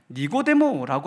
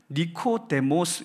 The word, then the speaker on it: 니코데모스: 니고데모라고 하는 말은 사실 우리나라 말로 이렇게 번역을 해가지고 발음하기 예쁘게 니고데모 이렇게 읽도록 해놓은 거지만 원래 이 헬라어 이름이기 때문에 그 이름을 보면 니코데모스 이렇게 읽어야 되는 단어입니다.